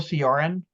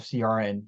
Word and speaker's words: Cioran: Josh, have you ever read Emil Cioran at all?